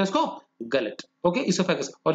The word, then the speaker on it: oesophagus: ईसोफेगस में ओ silent है, OESOPHAGUS, food pipe है।